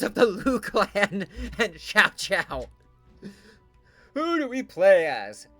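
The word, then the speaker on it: Xiao Qiao: Uh, we have three members of the Lu clan and Sha Chow. Who do we play as? Lucun, Lusu, Lumen, or Shao? Although I think it's pronounced Xiao Chow.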